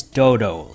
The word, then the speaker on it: Dlodlo: how to pronounce it the word is dodo like the extinct bird now dodo is a